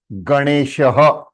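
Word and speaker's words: गणेशः: When Anunasika got a chance to attach with a vowel A, it became Rne. तो ग णे, ग णे बन गया, तो णे बना. और मूर्धन्य श with a give you sh and visarga Ganeshah. Ganeshah.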